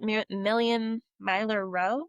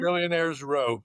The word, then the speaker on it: Millionaires Row: And I think it's at Million Miler Row. Is that how you say it, Tim? Millionaires Row.